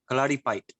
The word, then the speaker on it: Kalaripayattu: Yes, I think the pronunciation should be kalaripait. Kalaripait. Fight, a bit like you would say fight. So they don't really pronounce the second, the U at the end.